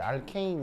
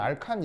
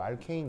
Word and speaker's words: 알케인: 그래서 이제 알케인 이렇게 발음하면 되고 뭐 옛날 일제 시대 때는 알칸 이렇게 발음했거든요. 근데 이제 요즘은 그런 표현 잘 안 쓰니까 원래 영어식 발음 그대로 알케인 이렇게 이제 읽으시면 됩니다.